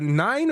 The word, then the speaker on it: Nin: Your your name is spelled n i n. You want to be called nin or nine?